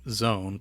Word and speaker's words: X1: X1 became Zone, pronounced like it began with a Z.